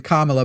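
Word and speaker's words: Kamala: Kamla by the way is how you say.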